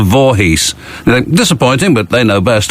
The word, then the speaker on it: Voorhees: sorry this is it actually it is spelled and pronounced as it is spelled voorhees disappointing but they know